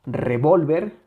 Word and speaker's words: revólver: Si le quitamos esa intensidad a la penúltima sílaba, quedaría revolver, revolver, revolver. No es lo mismo revolver que revólver, ¿ok? Revolver, revólver.